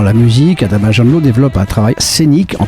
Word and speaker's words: Adama Janlo: Je suis au téléphone avec Adama Jandlo. C'est bien la bonne prononciation, Adama?